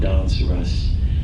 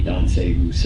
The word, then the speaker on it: Danse Russe: There's a poem I love by William Carlos Williams called Danse Russe. I think I'm pronouncing it correctly. It might be Danse Russe. It's D-A-N-S-E, and then the second word is R-U-S-S-E, right?